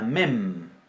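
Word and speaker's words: מם: Bien, después tenemos la mem.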